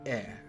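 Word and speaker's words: え: This is E, or pronounced I. Not really pronounced I, but you get what I mean. It is the equivalent of the vowel I in English. You pronounce this one as E.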